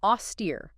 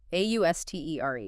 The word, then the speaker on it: austere: Okay, moving on to austere. A u- s t e r e. Austere, two syllables, stress on the second.